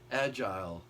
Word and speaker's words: Agile: I finally came up with the proper name, the way to pronounce this guitar, Agile.